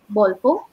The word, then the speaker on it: Bolfo: The tick and flea, the shampoo that we use is Bolfo. And so that's Bolfo. Could you spell it for me, please?